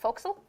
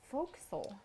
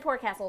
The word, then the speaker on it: forecastle: pirate ships i'm a foreign apparently forecastle is pronounced foxel folk soul yeah i would have said poor castle so thank you full castle yeah folks and